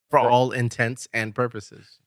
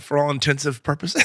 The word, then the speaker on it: for all intents and purposes: do you say it for all intents and purposes like it's not for all intensive purposes no it's for all